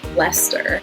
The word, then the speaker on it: Leicester: And then similar to Worcester is Gloucester and Leicester. They both have that CES combination that Worcester does that you kind of just smoosh all together.